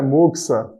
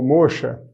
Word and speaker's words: moxa: veio né você deve ter um tipo de pronúncia sabemos que o termo correto é moxa uma vez que vem do japonês morros a é bom sar10 acabou passando aqui para a nossa forma latino-americana como mocha se inscreveram moça com x e daí a